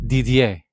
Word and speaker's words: Didier: is with my brother DDA I think I said it right it's a French name I've known DDA since